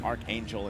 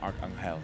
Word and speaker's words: Arcangel: You said Arcangel correctly. Yeah, you know, I switch between the Archangel and Arcangel.